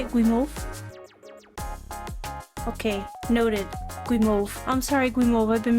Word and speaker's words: Guimauve: That's what Gimov means? Am I pronouncing that right?